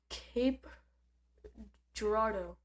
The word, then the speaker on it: Cape Girardeau: But I mispronounced it. That was Cape Girardeau.